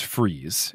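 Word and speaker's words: frieze: a definition ah the google tells me it's freeze is the pronunciation it's one of those i know what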